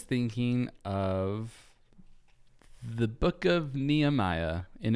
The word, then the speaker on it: Nehemiah: First, it's important for me to tell you that Nehemiah in Hebrew is pronounced Nehemiah.